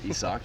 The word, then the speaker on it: Isaac: It's pronounced Isaac. No, it's Isak.